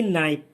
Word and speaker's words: knife: नाइफ। NIKNIFE, नाइफ। के silent रहेगा।